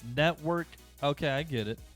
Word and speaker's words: Netvrk: i do know that the v and the r are intentionally together in the word to represent vr or virtual really reality so it's network okay i get it it's